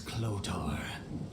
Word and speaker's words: Clotar: I once I had. pronounced it wrong this entire My real time. name is Clotar. Clotar.